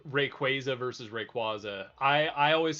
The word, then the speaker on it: Rayquaza: I think Rayquaza sounds better, but it is Rayquaza because it's based off of Quaazar.